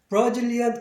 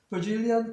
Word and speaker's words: Brazilian: 아까 말씀드린 것처럼 여기서 역위 현상이 일어나가지고 BRA가 BAR처럼, 그래서 이 AR은 이 R이 반모음이면서 어라고 발음하기 때문에 액센트가 여기 있고, 그래서 브라질리안이 아니라 브로로 바뀌어요. 그래서 Brazilian coffee, Brazilian coffee.